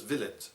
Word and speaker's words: villein: For instance, in the past, in medieval England, there was a class of people known as villeins. Not villains, villains. Slightly different pronunciation, very different meaning.